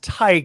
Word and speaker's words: Theige: but okay we also have Kyle and it's pronounced Tye I like to say Tye that's I like to say that too I like so you hit it right what is the correct one tyi that's it you got it very rarely do